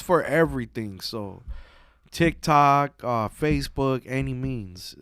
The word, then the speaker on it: Annimeanz: So TikTok, Facebook, Annimeanz. It's pronounced Annimeanz, like by any means necessary. Because so many people, Annimeanz, or like, don't pronounce it, motherfucker.